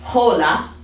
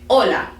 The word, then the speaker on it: hola: ace okay fun fact is really just a silent letter for the most part um so when you say you know that's why we say we don't say hola right we just say hola so when it's at